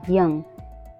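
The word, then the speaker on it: young: ओ यू एन जी यंग यंग में ओ के बाद यू आया हुआ है इसलिए यहां पे ओ साइलेंट है ऐसे ही और शब्द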